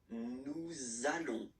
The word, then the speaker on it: nous allons: So it does mean that you will have to pronounce this z sound. Okay, listen to me. Nous allons.